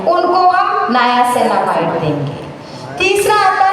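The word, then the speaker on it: niacinamide: Second आता है नयासेनामाइड। पहली चीज प्रोनाउंसिएशन। इट्स नॉट नियासेनामाइड। प्रोनाउंस करते हैं नयासेनामाइड। मैक्सिमम लोग गलती करते हैं।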